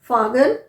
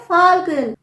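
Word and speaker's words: falcon: एल सी ओ एन फागन नहीं यहां पर आप एल प्रोनाउंस करेंगे ये है फाल्कन अब ए आई एस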